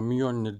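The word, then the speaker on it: Mjölnir: ki de mi yonit yani ismimi gönlü değil aslında mi önlü diye okunuyor niye onları ve Hornet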